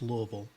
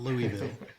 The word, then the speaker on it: Louisville: key things one was you directly pronounce louisville not louisville louisville uh in louisville number two you correctly articulated